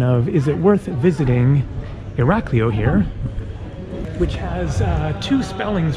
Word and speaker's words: Iraklio: the two spellings but Iraq leo probably still off a little bit but that's generally how you say it cool Ali right